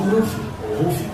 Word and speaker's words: Luffy: Se escreve Luffy, mas os japoneses falam Ruffy.